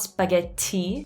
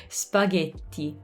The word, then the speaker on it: spaghetti: spaghetti and their tea has way less air than ours does so be care not spaghetti be careful with the air okay spaghetti spaghetti notice how the vowels are very tense very tight okay this is what we